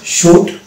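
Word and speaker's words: should: চারটি বর্ণ যদি পাশাপাশি থাকে সেক্ষেত্রে কিন্তু এল উচ্চারণ হয় না যেমন সুড উড কুড এখানে কিন্তু এই চারটি লেটার আছে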